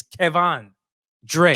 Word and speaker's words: Kevan Dre: He said pronounce his name correctly. It's Kevan Dre.